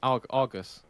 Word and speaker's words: Argos: heard Argus and Jenny how do you say it Argos the way it's supposed to be said uh ghost with an R over the nose sorry Argos but Argos